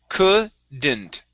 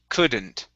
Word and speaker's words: couldn't: okay one more time the l we do not pronounce couldn't couldn't good all right nice